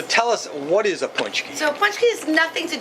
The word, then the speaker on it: Pączki: for those six weeks as you said it's spelled kind of funny if you don't know makes a Pax key or something but it's punchki it's punchki there's a little hook